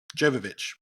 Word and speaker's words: Jovovich: Holm Chris Tucker and Mila yovich Jovovich those two actually you got it right the first time I've heard her actually say it and I was like he got it right he got the pronunciation right and then guessed it you walked it back and now I don't know where we are it's that soft J yeah uh budget of